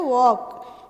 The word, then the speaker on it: walk: नहीं है, ल को हम क्या रखते हैं, साइलेंट रखते हैं, हम बोलते हैं वॉक, है ना।